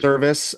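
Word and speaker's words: Servais: Mariners coach that got how do you pronounce his service I believe service okay I wasn't sure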